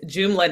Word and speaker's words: Joomla: Well, so when I was doing a little bit of background research, one of your many entrepreneurial endeavors is Joomla Network. Did I pronounce it properly?